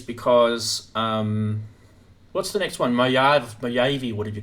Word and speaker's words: Mojave: Mojave, what did you call it? How do you guys pronounce that? Mojave.